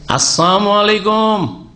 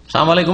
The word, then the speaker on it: আসসালামু আলাইকুম: বলতে গিয়ে আসসালামু আলাইকুম আজকাল অনেক মূর্খ মুসলমান আসসালামু আলাইকুম বলেন লামটা উচ্চারণ করেন না সালাম আলাইকুম মানে সাম মানে মৃত্যু সাম মানে মৃত্যু মানে আপনাদের মত হোক সাম আলাইকুম মানে কি আপনাদের মত হোক মরে যান আপনারা ধ্বংস হন তো এইরকম